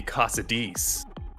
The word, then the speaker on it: Cosades: I've always said it Caius Cosades, but if you want to be Casadis, you can do that.